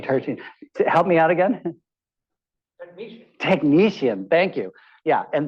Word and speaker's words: technetium: You know, if you look at, I think this is tertium, I'm sorry, TC, I forgot. Oh no, tertium. Help me out again. Technetium.